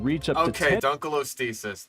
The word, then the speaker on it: Dunkleosteus: Okay, Dunkleosteus. That is a butchered pronunciation. You had an acceptable one at the beginning, and now you have Dunkleosteus. You're putting letters in there that don't exist.